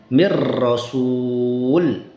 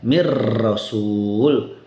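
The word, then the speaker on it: من رسول: Begitu juga dengan nun sukun bertemu dengan ro mir rasul. Misal. Nah, ini nun sukunnya hilang tidak ada zatnya tidak ada kemudian gunahnya juga tidak ada. Semua masuk ke huruf ro dibaca mir rasul.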